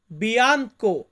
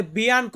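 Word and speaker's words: bianco: white white মানে সাদা এটাকে ইতালিতে বলা হয় বিয়ানকো ইতালিয়ান ওয়ার্ড বিয়াঙ্ক বা অনেকে আমরা বলি বিয়াঙ্ক আপনি দেখবেন আপনি যে সিটিতে আছেন যেভাবে উচ্চারণ করে পাশের মানুষটা সেভাবে বলে দিবেন হয় বিয়াঙ্ক নয় বিয়াঙ্ক পরবর্তীতে আছে নেরো ইতালিয়ান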